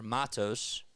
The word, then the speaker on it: Matos: off so Matos is up to bat or Matos that's how you say his name Luis Matos